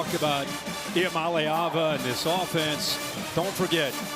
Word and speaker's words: Iamaleava: The correct way to pronounce my last name is I am a Lava.